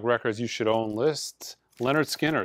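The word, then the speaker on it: Lynyrd Skynyrd: you should own lists Leonard Skinner it's pronounced a Leonard Skinner with the whole entire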